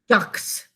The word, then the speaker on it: yacht: This word comes from a Dutch word for a ship. And so there's an unusual spelling to it. There's a silent sh. So this is the way we think to spell it. Y-A-K-T. Yacht. Because that's how it was originally pronounced.